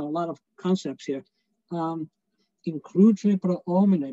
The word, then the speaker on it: pro homine: Includere pro omine, make sure, that they don't sing pro homine, there's no H in Latin. You don't pronounce H's, so it's pro omine.